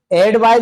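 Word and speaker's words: advice: Main एडवाइस जो होती है वो मेन वर्ब होती है, उच्चारण का अंतर है, एक को पढ़ते हैं एडवाइस और एक को पढ़ते हैं एडवाइज।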